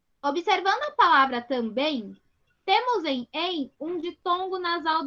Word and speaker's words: também: Esse M ele fica com som de I, ó, também.